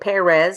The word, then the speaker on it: Perez: so LinkedIn just Perez um and I know it's p r z I say it Perez because that is the correct pronunciation but um um I'm